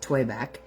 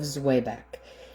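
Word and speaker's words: Zwieback: Now, I pronounce it Zwiebach because that's just the way I grew up pronouncing it.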